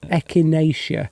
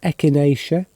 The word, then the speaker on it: echinacea: Duncan yes echinacea that's pronounced echinacea I don't know why won't it focus on there wait there...